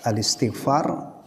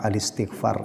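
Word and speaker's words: الاستغفار: Bacanya yang benar itu al-istighfar, ya, bukan al-istighfar. Karena hamzahnya itu namanya hamzah wasal. Jadi kalau ada membaca al-istighfar, itu bacaannya kurang fasih, kurang tepat. Yang benar adalah al-istighfar. Ya, al-istighfar tulisannya, membacanya al-istighfar karena hamzahnya ini termasuk hamzah wasal, bukan hamzah qata'.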